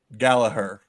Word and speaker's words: Gallagher: Rory Gallagher. Rory Gallagher. You don't pronounce the G on the end. Rory Gallagher. How do you say it? Gallagher.